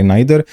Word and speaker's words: neither: एक से पहले नाइदर दूसरे से पहले नोर और प्रोनाउंसिएशन नाइदर कह लो नीदर कह लो एक ही बात है और सिर्फ दो